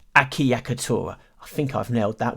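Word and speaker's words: acciaccatura: acc iacc atora akiya katora yes that's right akiyakatura i think i've nailed that one in terms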